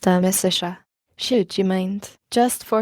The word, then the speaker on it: Amicitia: We've finished Livy and De Senectute and are now engaged with De Amicitia, pronounced Amicitia.